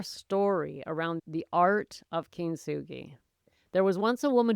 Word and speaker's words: kintsugi: It's a Japanese word pronounced kinsugi and it means golden joinery.